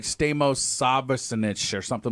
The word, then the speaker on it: Stamos: John Stamos actually John Stamos my first ever it's actually pronounced Stamos if it was Theos that would make him 30 times less hot that Stamos no it's Stamos it's the whole thing